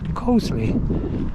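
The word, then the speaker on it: Coseley: walking their dogs and apparently yes it is pronounced Cole so I'm going through Coley at the moment wol rampton 4 miles so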